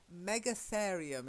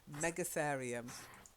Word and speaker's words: Megatherium: this one is but Megatherium is how i pronounce it mega as in big and then ethereum so it's a big Clarion whatever one of those is Megatherium mega Florian okay so